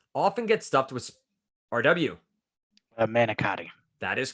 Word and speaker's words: manicotti: Manicotti. That is correct for 4 points. If I was pronouncing that from Jersey, manigot.